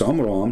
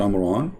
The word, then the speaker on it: Amram: It's Amram, not Amran, but idiot, as what you say, is the father of Moses.